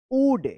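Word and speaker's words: would: वुड, यहाँ पे L silent रहेगा, वुड सी इट, he hoped that someone वुड सी इट।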